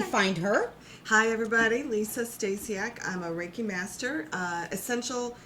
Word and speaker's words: Stasiak: Liose Stasiak.